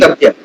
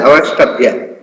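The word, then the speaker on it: अवष्टभ्य: Avashtabhya. Both S and T has to be pronounced as Avashtabhya.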